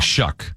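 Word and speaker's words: Shough: Is it It's It's actually like Shuck. Shuck.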